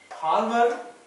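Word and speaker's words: Hjalmar: Halmer Egdon, J and A is silent.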